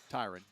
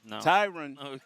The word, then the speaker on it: Tyron: you know and tyron kind of is i'm pronouncing right tyrant tyron tyron thank you bill tyron has kind of